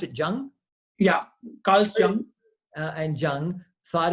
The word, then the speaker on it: Jung: you're saying that Freud and how do you pronounce it Jung yeah calcium and Jung thought everything is motivated